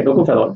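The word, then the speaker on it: tocopherol: English में भी इनको यही बोला जाता है, बस इसकी स्पेलिंग लिखनी होगी, बाकी का नाम यही है टोकोफेरॉल, ठीक है।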